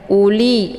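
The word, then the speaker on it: أولي: Kemudian wau ini merupakan wau ziadah. Jadi tidak dibaca ya uli langsung. Jadi tidak mesti dibaca panjang di u-nya karena ini bukan wau huruf mad.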